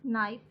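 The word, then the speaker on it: knife: वैसे तो के की प्रोनाउंसिएशन काफ है, ये डंड वाला काफ, लेकिन जब हम नाइफ लिखेंगे तो इसको हम ऐसे लिखेंगे, इसका जो के है वो हम इसको साइलेंट कर देंगे।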